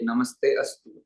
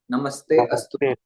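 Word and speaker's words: नमस्तेऽस्तु: महाबले महोत्साहे महाभय विनाशि यहां पर भी अनेक व्यक्ति इस प्रकार से तोड़ते हैं कि नमस्ते अस्तु लेकिन ये आ का जो अवग्रह हुआ है इसका उच्चारण नहीं होता एक साथ ही नमस्ते होता है नमस्ते अस्तु तो इस प्रकार से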